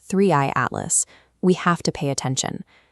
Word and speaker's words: 3I/ATLAS: So, when they publish a paper concerning an object called Three Atlas, pronounced Threeey Atlas, we have to pay attention.